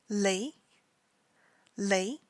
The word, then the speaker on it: Lay: should be pronounced so his stage name is lei lay just like it looks in English and his Chinese name